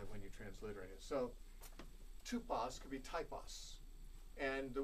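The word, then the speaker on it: τύπος: It's the Greek word tupos. You might spell it T-U-P-O-S. The second letter in that, in the Greek, is the upsilon, which can be represented by the English Y or the English U, as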